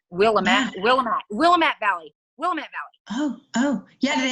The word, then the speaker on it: Willamette: Willamette Valley.